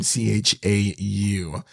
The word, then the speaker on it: Chau: I believe that's how you pronounce her last name, Chau.